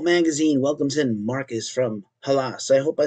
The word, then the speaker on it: Hallas: Ghost Cult Magazine welcomes in Marcus from Hallas. I hope I said that correctly. Thank you. Yeah, you can say however you want. We say Hallas.